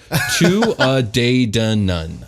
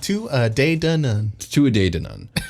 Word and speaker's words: Tuatha Dé Danann: Tuatha Dé Danann. Tuatha Dé Danann.